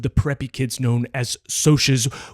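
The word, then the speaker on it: Socs: preppy kids known as socios, which is pronounced that way instead of socks.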